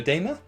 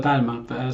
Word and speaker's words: Dalma: across the pond over in Austria, we've got Eduardo Damer from. I'm going to completely mispronounce this, but I'm going to go for it again. Eduardo Damer from Q Perio. Yeah, it's Eduardo Dalma, so that's fine.